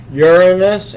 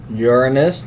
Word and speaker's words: Uranus: And then we have the ice giants, Uranus and Neptune. Notice how I pronounce Uranus, not Uranus. That's how we pronounce it.